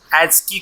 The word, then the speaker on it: ASCII: ASCII, ASCII code भी कहते हैं इसे, प्रोनाउंसिएशन में ASCII कहा जाता है, American standard code for information interchange.